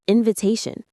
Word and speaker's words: invitation: That's an invitation. The stress is on the third syllable t. Say it with me. Invitation. It's like invitation.